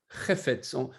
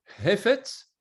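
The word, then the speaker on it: חפץ: Chefetz. Il faut bien prononcer le chet au début. Ce n'est pas hefetz ou hefetz, non, c'est chefetz.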